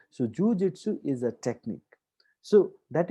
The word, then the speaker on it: jujitsu: Now let me point out, guys, jujitsu, that is the pronunciation, jujitsu.